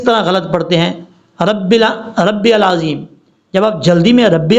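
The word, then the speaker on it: العظيم: بھی پڑھتے ہیں تو پھر بھی سبحان ربی العظیم، سبحان ربی العظیم، اس طریقے سے تلفظ کا خاص خیال رکھنا ہے آپ نے۔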